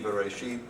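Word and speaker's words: בראשית: So this is the word, the first word in Genesis, in the beginning, Bereshit, that's modern Hebrew pronunciation.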